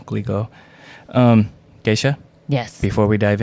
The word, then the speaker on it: Glico: of Japan's beloved candy company, I think it's pronounced Griko, which is like, I think they're the Pocky people. Yeah, he was kidnapped from his own home. It's Glico, I'm trying to say it correctly, Glico.